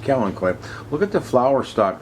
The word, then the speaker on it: Kalanchoe: spelled with a K looks like Kalanchoe spells out but it's actually pronounced Kellen koi look at the flower